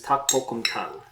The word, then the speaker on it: 닭볶음탕: one of my favorites takbokumtang also known as taktoritang or i guess that's about it but the proper way to say it is tak pokemtang um it used to